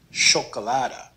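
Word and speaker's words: chocolade: the second word here the ch is pronounced like the sh in english so this is pronounced chocolata but in this word where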